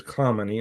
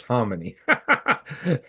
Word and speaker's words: Khamenei: They may try to, if they know exactly where Ali Khamenei's bunker is, and everybody puts a K in that and says Khamenei. No, it's Khamenei. I'm getting that from Iranian sources, at least.